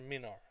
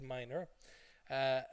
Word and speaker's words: minor: be menara see and but it's never meaner okay it's always minor aluminium in Ireland and